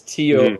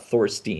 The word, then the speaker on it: Thorsten: So, Thorsten Heins, and it's Thorsten. There's no I in there. It's not Thorstein. It's the EI in Heinz that screws people up, and they throw the extra I in Thorsten.